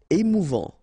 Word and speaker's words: émouvant: Émouvant. Final T not pronounced. A and together. En émouvant.